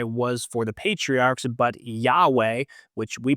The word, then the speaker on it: Yahweh: His name El Shaddai was for the patriarchs, but Yahweh, which we pronounce Yahweh, but it's actually spelled YHWH, which is pronounced more like kind of weird.